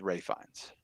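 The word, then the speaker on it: Ralph Fiennes: Ray B show just so you know it's Ray fines it says Ralph I understand that but it's pronounced Ray that's so stupid I'm well you're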